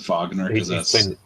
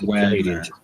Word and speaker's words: Wagner: Did you just pronounce it Wagner? Yeah. He's an American. It's Wagner.